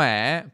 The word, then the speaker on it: è: sé è ok e usiamo è usiamo è perché si pronuncia è ok perché si pronuncia con una è aperta ok chiaro bene torniamo